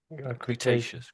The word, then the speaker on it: Cretaceous: I think I thought I heard you say it correctly actually, but um so it's actually Cretaceious Cretaceous.